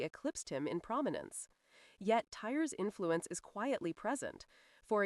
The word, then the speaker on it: Tyr: Tyr, pronounced like Tyr, is the god of honorable war, law, and sacrifice.